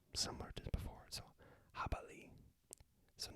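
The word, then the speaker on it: jabalí: And then J sounds actually more like an H, but it's pronounced at the back of the throat, similar to before. So habali. So not jabali, but habali.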